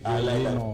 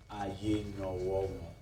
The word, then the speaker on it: Ayenowo: But my name in correction is not Ayenowo. Okay. You were too fast pronouncing my name. Okay, Ayenowo. Aye. No. Okay. So it's actually Ayenowo.